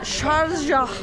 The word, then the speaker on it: Sharjah: Şarjah falan diye okunuyor şuradaki gibi.